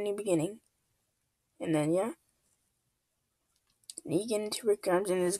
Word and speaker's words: Negan: beginning and then yeah Negan to Rick GS in his group Negan pronounced nean is a main character